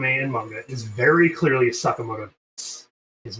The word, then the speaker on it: Sakamoto: of the anime and manga is very clearly Sakamoto. His name is Sakamoto. They pronounce him as Sakamoto. They everyone calls him Sakamoto. Right. Uhhuh. The very end of the theme song says Sakamato Days.